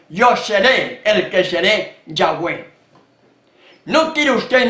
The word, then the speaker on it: Yahweh: Castellano y hablando Castellano yo puedo pronunciar correctamente yagüe porque así se pronuncia el nombre solemne imponente